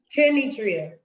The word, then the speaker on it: Kenetria: Tenetria with an N. Kenetria.